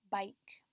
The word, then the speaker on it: bike: Bike is spelled B, I, long I, so I remember this word will have an E at the end. K, followed by a consonant K and the silent E.